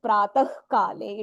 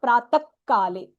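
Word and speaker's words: प्रातः काले: It should pratah kale. It is not pratak kale.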